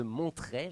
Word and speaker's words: Montret: ne seraient pas de mon trait je prononce donc bien le T que pouvez-vous leur dire